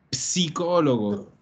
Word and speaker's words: psicologo: è uguale allo spagnolo ma ricordate la pronuncia la pronuncia con la p psicologo psicologo lo psicologo se il problema